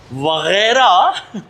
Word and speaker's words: Wagera: नहीं, जो correct pronunciation है उर्दू में वगैरह का, वो वगैरह है ना, गैन से, गैन वगैरह। तो इंग्लिश में अगर वगैरह लिखेंगे तो GHAIRA लिखेंगे, वगैरह।